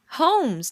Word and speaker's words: Holmes: to pronounce Sherlock Holmes I can pronounce it Holmes take the lell out if you don't want it to be a w Class Clown 4 is